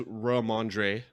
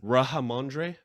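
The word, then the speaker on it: Rhamondre: Who says Ramondre? Did I say it properly enough? Not even close. I don't think so. Just say Stevenson. Mr. Stevenson. Rahamondre? That was good. That was better.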